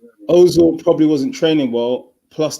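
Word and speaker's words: Özil: Ozil, how do you pronounce his name? Ozil.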